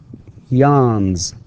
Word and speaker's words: yawns: And notice how I pronounce it, yawns with z, because again, the last or the final sound in the word yawn is n, and it is voiced. Therefore, we pronounce the s with z and not s.